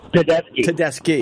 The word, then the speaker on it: Tedeschi: Tedeschi.